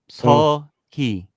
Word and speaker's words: Seo Hee: Well, it's Seo Hee.